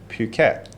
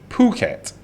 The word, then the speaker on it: Phuket: you know it is phuket now you know because i come from the uk which we pronounce the h and the u you know that's how